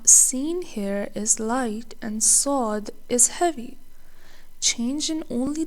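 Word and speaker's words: صاد: Saad. Many beginners pronounce this exactly like Sin, but Saad is a heavy letter.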